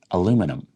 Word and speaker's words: aluminum: So British fluent speakers will pronounce this word aluminium, and North American speakers, so American and Canadian speakers, will pronounce this word aluminum.